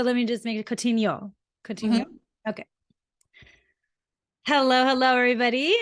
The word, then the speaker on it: Coutinho: should have asked you is that how you pronounce it that was very close and you totally get points for that it's coutinho it's like okay great it's coaching you which